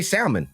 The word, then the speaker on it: salmon: I have heard people in the South pronounce it with the L.